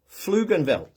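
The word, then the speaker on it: Pflugerville: I was in Dallas in a place called Fluganville. Is that how you It's spelled with a P, but it's pronounced Fluganville.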